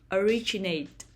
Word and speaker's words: originate: the first syllable opera originate originate the stress is on the second syllable originate originate perform perform the